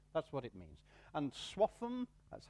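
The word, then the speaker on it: Swaffham: other small items that's what it means and swap em that's how you say it swap em is the name of a village in this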